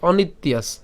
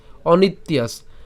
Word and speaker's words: অনিত্যাস: মত হয় ঠিক আছে তাহলে জফলা আকার এবং দন্তস যদি একসাথে উচ্চারণ করি তাহলে কেমন হবে ইয়া আছে অনিত্যায়াস ঠিক আছে একসাথে বললে অনিত্যাস অনিত্যায়াস আর যদি ভেঙে উচ্চারণ করে অনেকের উচ্চারণের সমস্যা হতেই পারে প্রথমে তো সেজন্য আমি এটাকে ভেঙে দিচ্ছি তবে একসাথে উচ্চারণ করলে ভালো অনিত্যাস আর আলাদা উচ্চারণ করলে অনিত ইয়াস ঠিক আছে অনিত এই ত পর্যন্ত উচ্চারণ